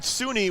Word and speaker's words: SUNY: Right, SUNY would be how you pronounce it because U for university.